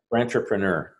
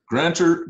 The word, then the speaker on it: grantrepreneur: How do you say it again? Grantrepreneur. Grantor? Grantrepreneur. Grantorpreneur. Okay, I got it now.